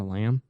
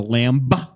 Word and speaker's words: lamb: you call it a lamb it's not a lamb a lamb not a lamb no because it's a be the is is silent but the goddamn hell